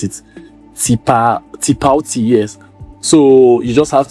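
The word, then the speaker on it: Tipalti: Is to create, they use a payments platform called Tilpati. I don't know how to pronounce it. Tipauti, yes.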